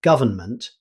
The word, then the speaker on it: government: Government. Here's another word that becomes shorter in fast speech. Although it's spelled government, many native speakers say government, dropping the N sound in the middle.